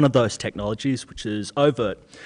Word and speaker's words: oVirt: Is that how you pronounce it? oVirt and Aeolus, yeah.